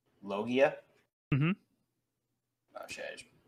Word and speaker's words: Logia: We also got a little tidbit that the Rumble fruit is the most powerful login type. Did I say that right? Did I pronounce it right? So it's a Logia. Logia?